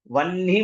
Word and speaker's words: वह्नि: और जिनको वहनी बोलना नहीं आता, ह के नीचे न की मात्रा आता है, वह्नि मंडल रूपिणी, तो अब जिनकी प्रोनाउंसिएशन ठीक नहीं है वो लोग बोलेंगे वही मंडल रूपिणी, ना तो खाई जाते हैं।